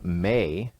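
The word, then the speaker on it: Maye: mean Elon Musk mother may Musk and I'm saying may m-a-y-e I think that's how you pronounce it yeah has uh some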